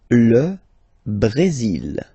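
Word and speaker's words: Brésil: L Brazil. L Brazil. Okay. You will pronounce the final L here. And then remember accentu goes like a Brazil. L Brazil.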